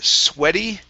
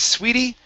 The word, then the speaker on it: sweaty: Next up is the word sweaty. Right here instead of sweetie, this is a short E.